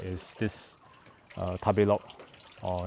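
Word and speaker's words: 食べログ: Um I think one of the food apps that I really like is this uh tablo or in Japan they pronounce it as tabu l is like r uh where the the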